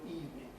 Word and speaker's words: evening: and you're abnormally artificial not using the normal english way of saying the word evening it's been two syllables only for about 500 years now right good evening i've